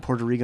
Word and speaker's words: Puerto Rico: And he would say Puerto Rico or in Puerto Rico, and then he'd go, no, they've told me the real pronunciation is Puerto Rico.